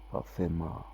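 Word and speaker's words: πάθημα: How you pronounce it here again? Pathema.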